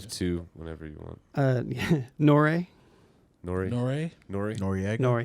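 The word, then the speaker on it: N.O.R.E.: Nore. Nori? Nore? Nori? Noriega. Nore. Yeah, Nori.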